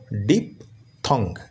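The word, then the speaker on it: diphthong: শব্দটা উচ্চারণ করতে পারো যেমন ডি আই পি ডিপ এটা তোমরা জানো আর টি এইচ এ হয় কি থ সি ও টি কট যদি হয় তাহলে টি এইচ ও টি থট হবে বি ও এনজি বং যদি হয় তাহলে টি এইচ ও এনজি থং হবে তাহলে ডি আই পি ডিপ টি এইচ ও এনজি থং তাহলে উচ্চারণটা হলো ডিপ থং যাদের বড় বড় ওয়ার্ড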